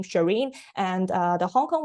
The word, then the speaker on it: Charene: quite lucky and obviously win is also a similar pronunciation with my english name shireen and uh the hong